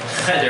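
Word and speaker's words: חדר: Cheder, I'm going to say pronounced cheder. Cheder is classroom. Hamoreh b'cheder. B'cheder. B'cheder. So you have to put the accent on cheder.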